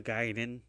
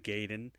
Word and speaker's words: Gaiden: title screen right now, it's G A I D E N. Giden. Gayen is G A Y DN. So, if it's spelled some way, I'm going to I'm going to read it like it's spelled cuz where do you get the Y and the I. So, yes, I grew up calling it Ninja Gayen. My friends grew up calling it Ninja Gaiden, but a lot of